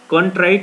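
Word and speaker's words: contrite: तो कंट्री right जब भी हमें कहीं दिखेगा, इसका सही प्रोनाउंसिएशन जो है कॉन्ट्राइट होता है, लेकिन इसको हमने तोड़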